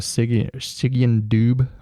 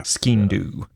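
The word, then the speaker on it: Sgian-dubh: Yeah, it was almost like a Stygian dube or whatever it's pronounced. Yeah. Skindu.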